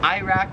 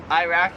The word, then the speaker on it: Iraq: So Iraq, we pronounce it Iraq. Here they pronounce it Iraq. Like we say I, they say Iraq.